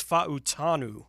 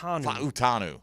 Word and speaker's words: Fautanu: for what it's worth a Washington pronunciation guide here has it as fautanu fanu yeah they've got the H in there on the they're going hard on that U that first u in there fanu fautanu yeah Troy